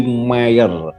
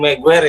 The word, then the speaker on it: Meijer: Tapi untuk pelafalan Mayer jangan Maguire ya. Tolong ya. Mayer bukan Maguire.